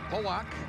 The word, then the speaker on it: Pollock: East Bernard, Garrett Pollock. That's how he pronounces his last name.